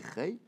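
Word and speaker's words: חֵי: Ve chei be tsere, et quand on écrit chei avec un tsere, donc on dit chei, ou qui nouille les yesod.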